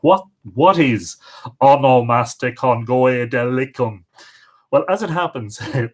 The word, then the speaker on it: Onomasticon Goedelicum: like what what is amo master Congo adèle alaikum well as it happens there's an easier way to pronounce it which is on a master con gala come now onomastics is the